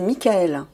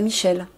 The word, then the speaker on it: Michaël: vrai nom par contre c'est Mickaël et non pas Michel comme les Français la plupart des Français l'appel c'est pas l'archange saint